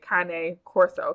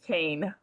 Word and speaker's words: Cane Corso: Uh, that's the proper way to say it. Kane Corso because it's Italian. Um, but the American way is Kain, right?